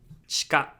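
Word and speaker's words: 地下: Chika, chika. So here, the I in chi can be devocalized when you say it fast, and it's going to sound more natural.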